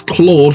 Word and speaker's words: Claude: and it said well my name is Claude pronounced Claude and I said yes I like car like a car clawed me and it said yes